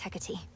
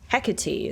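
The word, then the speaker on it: Hecate: I lack such forgiveness for my failure, had mistress Hecky. The Titan yet lives and Olympus yet burns. While I'm back where I started. Hecati is how you pronounce it.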